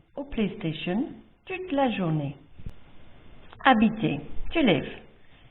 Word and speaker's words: habiter: Habiter, to live. You can hear the H is silent in this case, which means the S's in the personal pronouns need to be pronounced.